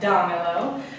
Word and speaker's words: dámelo: But it's not, because when we pronounce the word, it's pronounced dámelo. Therefore, it breaks the rule for llana.